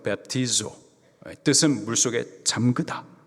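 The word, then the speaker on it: βαπτίζω: 세례, 헬라식 발음으로 베프티조, 뜻은 물속에 잠그다.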